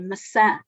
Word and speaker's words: maçã: Por exemplo, a palavra maçã, as palavras maçã e massa, muitas vezes os sons são bem articulados, mas a sílaba tónica é mal marcada e então há confusão entre estas duas palavras.